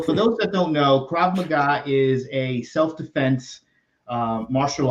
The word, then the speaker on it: Krav Maga: over the years can you can I get pronunciation right KRA magah you got it right so for those that don't know Krav Maga is a self-defense uh martial arts that is